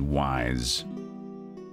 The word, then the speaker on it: Ys: Yeah, a lot of, I think Wests, US people said wise. For us, the letter Y is just pronounced E anyway.